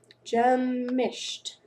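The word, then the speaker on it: Gemischt: How do I pronounce it? Gemished. There we go. German.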